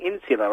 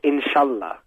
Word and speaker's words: inshallah: Third point, why do you keep saying insular after every single thing? Inshallah. What's insular? Inshallah. No, the proper pronunciation is inshallah.